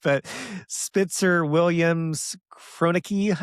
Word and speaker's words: Kroenke: names, but Spitzer Williams Kroenke, I think is how you say it, or Chronicky. Yeah. Kroenke.